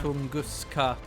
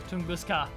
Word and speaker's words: Tunguska: Tunguska. Tunguska. Yeah, there's no T in apart from the first letter.